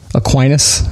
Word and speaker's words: Aquinas: how do you how do you say that Aquinas Klein it Aquinas okay there you go yeah you John Locke